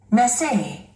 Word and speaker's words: message: 우리 한국인들은 이 단어를 마세 이렇게 발음을 합니다. Message. Message. 액센트가 뒤에 있죠. 이음절에 있습니다.